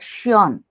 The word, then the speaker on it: schön: Like an adjective I have found here, Mm, beautiful is called shion. mm, Shion. Oil is called yol, pronounced as yol.